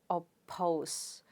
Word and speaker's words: oppose: Let's syllabify that. Op and pose. Right? And if you look at it, per sound is at the beginning of a stressed syllable because the stress is on the second syllable. Therefore, you pronounce it as oppose.